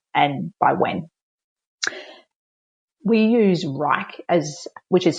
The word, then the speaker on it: Wrike: We use Wrike, which is spelled WRIKE, as our internal management system.